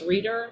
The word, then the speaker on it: Rieder: There's a terrific book called In Pain by a bioethicist named Travis Reeder, that's spelled Rieder, who himself got in a terrible motorcycle accident and nearly found himself addicted.